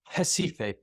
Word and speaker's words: Recife: Up here is pretty much urban northeast Brazil, and it's centered around, it's spelled Recife, but it's Recife.